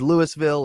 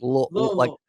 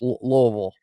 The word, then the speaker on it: Louisville: I know everybody always makes fun of everybody always says Louisville or Louisville but it's like no, I gotta say it like I've got gravel in my mouth a little bit, like Louisville. like a mouthful of marbles, Louisville, Yeah, Yes.